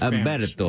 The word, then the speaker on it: Umberto: Umberto with a U or an H? With a silent H. Okay. That was my Spanish. Umberto.